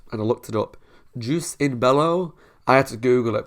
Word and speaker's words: jus in bello: what it's done or how you pronounce it so it's juice in bellow and it's basically means